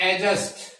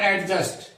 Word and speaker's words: adjust: इसी तरह से ADJUST इसे कहते हैं एडजस्ट, नॉट एडजस्ट।